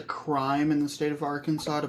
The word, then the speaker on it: Arkansas: were talking about the difference between Kansas and Arkansas no your audio like super just cut out yeah oh Kansas and also did you know that it's a crime in the state of Arkansas to pronounce the name of the state as